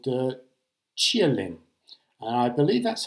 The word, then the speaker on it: Qilin: new battery called the chia lim and i believe that's how you pronounce it in chinese it's spelt q-i-l-i-n but i've looked this up and it sounds like you're cheering someone called lin is the name of